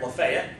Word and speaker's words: Lafayette: The Marquis de Lafayette, right? Or as we would pronounce it around here, Lafayette, right?